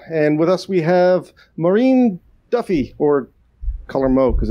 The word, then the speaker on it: Máirín Duffy: to another episode and with us we have maureen duffy or color mo because it's easier for me to pronounce uh hey mo could you but you